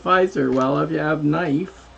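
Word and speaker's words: Pfizer: kife everybody knows that's you spell it has PF but you say it fizer well you have knife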